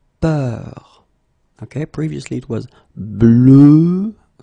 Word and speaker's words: peur: And then we will have a little bit the same, but it's a bit lighter, more open, and it's peur.